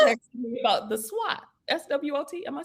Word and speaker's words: SWOT: Well, I still think about that SWAT. Okay. You think about what? The rooftop? Did you say the rooftop? The SWAT. When you were texting me about the SWAT. SWOT.